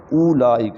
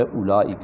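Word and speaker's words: أولئك: غلط ہو جائے گا۔ اس کا اصل میں تلفظ جو ہے وہ اولئک نہیں ہے، اس کا تلفظ جو ہے اولئک ہے، یہ واو نہیں پڑھیں گے، یہ واو سائلنٹ ہے۔ وحسن اولئک رفیقا، رفیقہ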